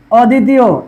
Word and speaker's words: অদ্বিতীয়: জফলা আছে, তাহলে সেটা কি হবে আমাদের দ্বিতীয় উচ্চারণ হবে অদ্য, অদ্য। ঠিক একইভাবে এই যে অদ্বিতীয়, এটার মধ্যে অধ্বনি আছে, আবার দয়ের সাথে কি